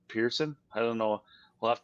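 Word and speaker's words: Pierson: that's how they spell Pearson I don't know we'll have to listen how they say it on Golf Channel it's like the word Pierce and then the word Sun usually it's just like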